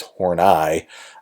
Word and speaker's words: Horney: name well actually no her name is not horny it is horney uh is how that's pronounced so i guess i shouldn't make that joke um uh karen hornai was actually super interesting